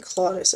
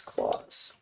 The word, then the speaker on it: Claus: his name too so I keep saying claudis I know it's not claudis it's claws Claus with soul with